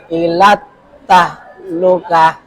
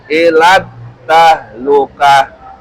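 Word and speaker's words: إلى التهلكة: Nah, ini juga keliru. Enggak ada tasdid. Ilat Oh, ilat tahlukah.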